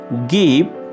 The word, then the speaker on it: give: Give. গিভ, দেয়া, ছেড়ে দেয়া। গিভ, দেয়া, ছেড়ে দেয়া। এখানে মার্ক করা ই লেটারটি হচ্ছে একটি সাইলেন্ট লেটার।